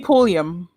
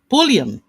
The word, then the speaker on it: Pulliam: Limi, I hope I'm saying it right, Limi Pulliam or Pullman. Mm-hmm. How do you say the name? Lemmy Pulliam. Pulliam.